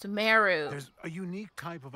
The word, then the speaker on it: Sumeru: many things in these lands that's what it's pronounced suu there's a unique type of anomaly that occurs